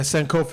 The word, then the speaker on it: Sankofa: Yeah, Sankofa. It's a Halimi Sankofa.